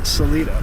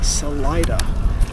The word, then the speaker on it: Salida: saat and I'm sure I'm sure I've been mispronouncing Salida as Salita but it is Salida the town I am staying at tonight 45